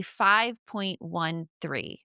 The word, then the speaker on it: 5.13: And something that I found fascinating about you is that you climbed a 5.13 while pregnant.